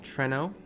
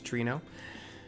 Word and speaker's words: Treno: And we are in the main street area of Treno, which I also used to mispronounce cuz it was in Final Fantasy 7. I thought it was Trino.